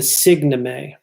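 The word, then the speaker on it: signeme: something that he pulls from semiotics called the signomy. The signomy, okay? The signomy is spelled S-I-G-N-E-M-E.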